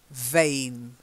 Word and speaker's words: vain: thing that's better yeah what happens if your mouth is your teeth go just onto your bottom lip to say mmm and then you vibrate the bottom lip a bit vain much better good